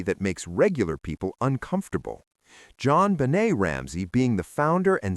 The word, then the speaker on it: JonBenét: And their daughter, JonBenét, born August 6, 1990, named partly after her father in a French pronunciation, JonBenét, was by everyone's account